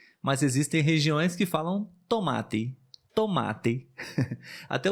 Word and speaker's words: tomate: tomate é muito bom tomate é um ótimo exemplo porque no início da palavra nós temos tô e no final temos ti na nossa região pelo